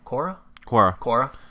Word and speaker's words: Quora: So I went on Quora.